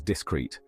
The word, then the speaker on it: discreet: we pronounce it as discrete with the stress on the second syllable you can use it